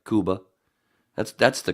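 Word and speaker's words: Cuba: the only crackers that says says it right Kuba that's that's the correct pronunciation right just like it's Iran and everybody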